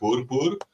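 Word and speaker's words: Boerboel: Um, and the dog that you were referring to as well there is called the Bourb. Um, it's actually it's a bit hard to pronounce if you're not if you don't have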